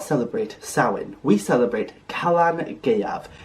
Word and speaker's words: Calan Gaeaf: celebrate Sinn we celebrate Kalan gav it's pronounced Kalan G a that e in the middle might be a little tricky for those of you who don't speak Welsh but just keep at